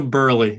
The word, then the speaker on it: Burleigh: john uh who is now learned how to pronounce your name nina which makes me very happy nina burley it's a beautiful name and and i'm proud